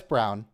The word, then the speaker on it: Braun: No, it's brown. Brawn, I thought. The color brown in German is still pronounced brown, but you have to roll the R a little.